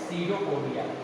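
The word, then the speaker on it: pseudopodia: सीडोपोडिया। पी इसमें silent होता है, सीडोपोडिया।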